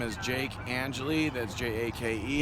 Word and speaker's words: Angeli: your first and last name and how to spell it please sure my name is jake angeli that's j-a-k-e angelia i was saying it wrong i'm sorry and can i ask your age yeah sure i'm 32.